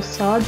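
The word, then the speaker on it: ص: Try to pronounce it sa. Sa, it is not like se, it is a little bit to the back of se. Se, sa. So there is a difference. Se, this is teen. Sa, this is sad.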